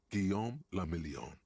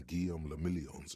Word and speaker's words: Guillaume le Million: Guillaume le Million. Guillaume le If Million. it doesn't rhyme, you're not pronouncing it right.